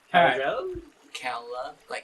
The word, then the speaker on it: Caladrel: Caladrel? Like California.